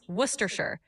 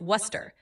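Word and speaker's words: Worcestershire: It's typically pronounced worershir or sometimes just worcester. The shire part is often shortened so you can say worcester sauce and you'll be good.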